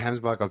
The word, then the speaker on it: Gemsbok: so Gemsbok, so actually you pronounce it Oh, is Gemsbok. it hemsbuck?